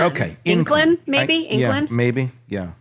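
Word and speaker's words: Ynclan: Yeah, this is Cassandra Inclan, I think is how you pronounce it. The spelling is Y-N-C-L-A-N. Okay. Inclan, maybe?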